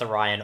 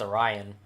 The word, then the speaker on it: Orion: And yeah, I used to pronounce Orion Orion. I think it wasn't until I listened to Metallica that I knew that it was pronounced Orion.